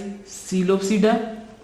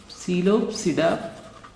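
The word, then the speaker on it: Psilopsida: One is Coelopsida, classes of pteridophytes. Classes of pteridophytes. One is Coelophyta. PSILO Coelopsida. इसकी example है जी Coelotum. Coelotum. P is silent in both.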